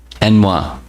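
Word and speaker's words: ennui: There's a French word that in English it's pronounced, I just learned this the other day, ennoi. It's E-N-N-O-I.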